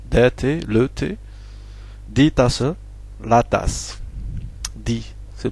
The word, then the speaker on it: Tasse: Tasse, on vient de le voir ici, le mot Tasse, il prend le E final. Donc on le prononce, le E final. Tasse, die Tasse, hein, c'est féminin.